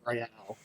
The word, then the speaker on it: Royal: red card on Emerson Royal. What are your thoughts on this card? Well, two things. Number one, because nothing can be pronounced the way you think it's Royale.